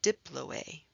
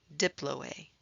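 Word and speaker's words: diploë: spongy bone has a special name it's called Diplo a Diplo a and that is spelled di PLO e-mount red bone marrow also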